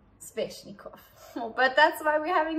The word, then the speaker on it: Sveshnikov: Okay, another funny name, Sveshnikov. Some people say Sveshnikov, I've heard that. It's very subtle, but either we pronounce the V hectically or we don't. Sveshnikov.